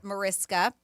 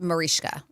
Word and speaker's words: Mariska Hargitay: But she said often incorrectly pronounce the way it's spelled, Mariska. But she says her is properly pronounced Marishka, which is what I said, Marishka. Sure, but a lot of people say Mariska Hargitay.